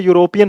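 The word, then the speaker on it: European: pronunciation नहीं होता जैसे यूरोपियन हो गया तो यूरोपियन में अब ई से थोड़ी आएगा यो से आएगा अब जब यो से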